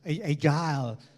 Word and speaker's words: agile: Kalau yang berikutnya bacanya pakai bahasa Inggris ya, jangan bahasa Betawi. Kalau bahasa Betawi, gile, wah itu kayak begitu sih. Agile, lincah dan gesit ya.